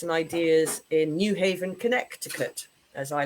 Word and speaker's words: Connecticut: Ideas in New Haven, Connecticut, as I like to call it. I don't know why the C in Connecticut is silent.